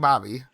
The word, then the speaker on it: Babby: Dagging Bobby. It's spelled Babby, but it's pronounced Bobby throughout the whole thing.